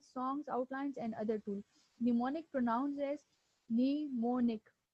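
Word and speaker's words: mnemonic: करना okay व्ट इज निमोनिक इसमें जो एम है वो इनिशियल वाला य एम जो है व साइलेंट है निमोनिक आल्सो नोन एस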